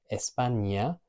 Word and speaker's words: España: But the ñ makes a ñ sound as opposed to a n sound, like in the word España and español, the language that you're learning right now with me.